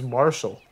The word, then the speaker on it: Marshall: Mark Mark you know my name's Marshall Marshall yeah spell that m a r s h a l l that's crazy I've literally